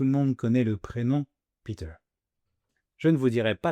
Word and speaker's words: Peter: En effet, si un Français le lit hors contexte, il risque naturellement de prononcer la dernière syllabe comme un verbe du premier groupe en français. Donc Peter peut facilement être lu comme péter, ce qui change complètement le sens et peut prêter